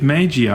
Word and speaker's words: Meiji-ya: But with Meiji-ya, it's like, why didn't you just call it Meiji-ya, because in English we can say the G sound.